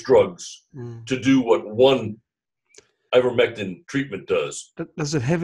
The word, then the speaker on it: Ivermectin: Okay, I spelled it with an O, but apart from that, it's spelled exactly how it sounds. Ivermectin.